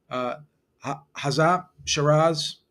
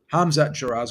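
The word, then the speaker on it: Hamzah Sheeraz: With Hazat Shiraz, you have a minus 290. Hamzat Shiraz, excuse me. I have a hard time pronouncing that name sometimes.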